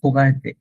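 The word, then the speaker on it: regarder: ইটস নট সরাসরি ওগারদে বলা যায় না, হোগারদেও বলা যায় না, ইটস লাইক হোগারদে, হো। এখান থেকে বানানটা দেখি, লাইক আপনাকে হোগারদে।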